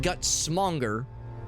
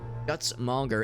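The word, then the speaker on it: Gutsmonger: Mora rubus legendary guts guts Monger not gut smer guts monger and doing so gave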